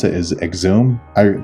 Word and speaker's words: Xoom: I guess some people might pronounce it as Xoom. I pronounce it as Xoom.